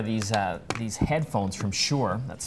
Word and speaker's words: Shure: you today are these uh these headphones from Shore that's spelled s h u re e is the